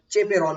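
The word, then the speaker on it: chaperone: is started from CH sometime people uh pronounce it like a chaperon protein okay so both pronunciations are true in this sense because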